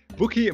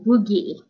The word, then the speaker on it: Bukie: if it's a geez it's like boogie so the K is a G and the pH is